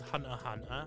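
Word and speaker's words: Hunter × Hunter: It is actually pronounced High School DD. Is it the same with Hunter Hunter?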